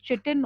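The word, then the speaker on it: chitin: Cell wall भी होता है और ये सेल वॉल बनता है काइटिन से। इसको कभी कभी pronunciation people pronounce it एज चिटिन also और काइटिन ऑल्सो।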